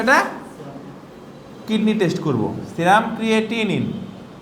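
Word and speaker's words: creatinine: kidney test করবো serum ক্রিয়েটিনিন ক্রিয়েটিনাইন না কিন্তু ক্রিয়েটিনিন অনেকে বলে ক্রিয়েটিনাইন হ্যাঁ এটা ঠিকমত উচ্চারণ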